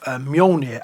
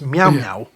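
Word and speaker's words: Mjölnir: things like that work her pronunciation of mjolnir as meow meow always gets a giggle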